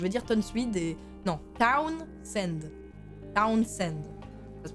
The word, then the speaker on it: Townsend: Donc, voilà, donc Fran Tonswede, je vais dire Tonswede, je sais pas comment le prononcer, donc je vais dire Tonswede et... Non, Townsend.